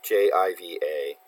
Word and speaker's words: Jiva: Sometimes it's JIVA, and you just have to know that it's pronounced Jiva. Not to be confused with Shiva.